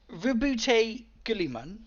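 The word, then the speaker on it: Roboute Guilliman: So Rebute Gulliman, did I pronounce that correctly?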